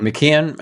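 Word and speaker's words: McKeown: Mckon. Okay, that's how you pronounce it.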